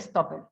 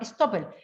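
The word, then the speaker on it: estoppel: Y procesalmente en un juicio uno hace ver eso y se llama stopper. Stopper como una palabra alemana, más que inglesa. Se escribe E-S-T-O-P-P-E-L. Stopper.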